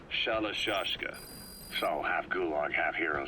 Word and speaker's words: Shalashaska: the end of shashka the gorillas were using the name amongst themselves by the time I got to hearing about it pronunciation had wound up as shalashaska so half gulg half